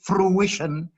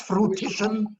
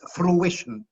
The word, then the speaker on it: fruition: And the pronunciation is fruition, not fruition and not fruition. It's fruition.